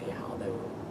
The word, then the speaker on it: Yihao: The first time I was in America, when I tell people that my Chinese name is Yihao, they would be like, oh, that sounds like Ni Hao, which is the only Chinese I know.